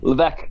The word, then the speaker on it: Levesque: That's how you pronounce that. I'm sorry. Levesque.